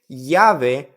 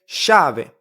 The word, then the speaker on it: llave: We don't really say llave, which is key in Spanish. We say llave, as you can see.